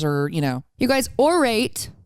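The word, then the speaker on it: Aurate: you know you guys or rate spelt aur ates and you pronounce it or alright it's fine jewelry made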